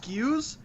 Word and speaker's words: SKU: Is it actually pronounced SKUs in the retail world?